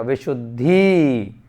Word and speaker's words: विशुद्धि: जब उच्चारण करेंगे तो द छोटा आएगा और ध बड़ा आएगा, विशुद्धि।